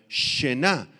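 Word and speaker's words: שְׁנָא: Apunten la palabra palidecer, es la palabra aramea shená, con acento en la a sh al principio shená significa cambio de rostro, alteración o transformación.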